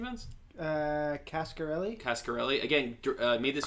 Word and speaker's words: Coscarelli: How do you pronounce his last name, Vince? Cascarelli. Cascarelli. Again, made this Coscarelli.